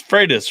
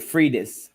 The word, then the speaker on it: Freitas: down hold on f-r-i-e-t-a-s it's freitas right what do you think it's freitas that's correct okay you have tyler got it right well everybody pronounces it fridas or free ass that's what i said